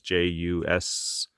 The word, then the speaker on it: Jusko: I believe that's how you pronounce his name. It's Jusko.